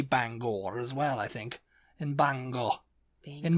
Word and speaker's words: Bangor: think it's interesting uh the next one is Banger Banger in Maine yeah to say Banger app apparently it's Bangor Bangor yeah Bangor and it's